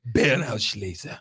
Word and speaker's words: Beerenauslese: Then they have one even sweeter than that called Beerenauslese, which means late berry picked. Beerenauslese. That's right. Nice pronunciation.